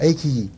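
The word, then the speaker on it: iQIYI: invito a que vean, bajen una aplicación que se llama Ikiji, así se escribe, Ikiji, I-Q-I-Y-I, Ikiji, se pronuncia Ikiji.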